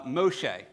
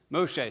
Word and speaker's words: Moshe: whole series uh the the actual Hebrew pronunciation uh Moshe Moshe so I'm sure you all have heard of him as Moses but in my mind